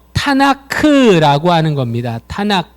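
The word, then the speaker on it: תנ״ך: 보이지요 이게 뭐라고 했죠 카프의 미형 그래서 타나 불가 아니라 탄 아크 라고 읽어요 자 제가 가지고 있는게 이게 판 아크 예요 이게 탄 아크 미라 여기에 탄 아크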